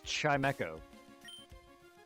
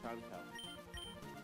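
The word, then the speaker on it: Chimecho: I pronounce things phonetically, but no, look at the root word for his name. It's Chime and Echo.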